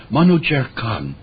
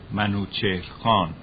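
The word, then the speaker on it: Manúchihr Khán: they determined to get rid of the Bob Manu chair Kahn was the governor of that part of the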